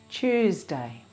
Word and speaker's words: Tuesday: Tuesday. Tuesday. Choose has 3 sounds. Ch, u, z. Listen and repeat. Ch, u, z. Choose, Tuesday.